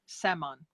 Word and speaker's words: Szeman: right that Mon just ignore the Z salmon salmon salmon there we go thank